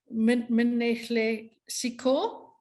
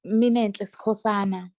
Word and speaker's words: Minenhle Sikhosana: Minnehle Siko, if that is pronounced correctly. Yeah, it's Minenhle Sikhosana.